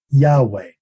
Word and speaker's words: Yahweh: So the third word there is a four-letter word in Hebrew that we think was pronounced Yahweh.